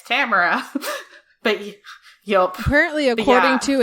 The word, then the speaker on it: Tamora: Oh, Tamara, I forgot. like camera.